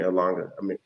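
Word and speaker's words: Umhlanga: Actually, where you were sitting, there was a Radisson Hotel being built down there in Langa Ridge, or excuse me, Slanga.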